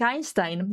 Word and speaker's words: Einstein: So like Einstein, that's the reason why indeed it's read in that way. It's not Einstein, it's Einstein, because EI is pronounced I in Deutsch.